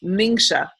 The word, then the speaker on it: Ningxia: get your energy your energy up but it's pronounced mingsha red okay so that's how you pronounce it